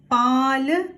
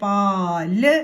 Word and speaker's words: പാല്: ഇപ്പൊ എന്ത് വായിക്കും പാ ഇനി ല എഴുതിയിട്ട് ചന്ദ്രക്കല ഇട്ടു അപ്പോഴല്ലേ പാല് എന്നാവുള്ളൂ ചന്ദ്രക്കല ഇട്ടില്ലെങ്കിൽ എങ്ങനെയാ വായിക്കുക പാല പാല എന്നേ പറയാൻ പറ്റുള്ളൂ ആ എന്ന ശബ്ദം കേൾക്കുകയുള്ളൂ അ